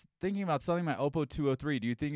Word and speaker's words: Oppo: really the situation the opal will playback more I'm sorry the oppo will playback more I got to start saying it right up oh right it's like it's Porsche not Porsche its Oppo so I got to start